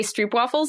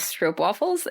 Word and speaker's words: stroopwafel: Like we say stroopwafels, but apparently I've been saying it wrong because, if you live in the Netherlands, they're actually pronounced, I think, stroopwafels.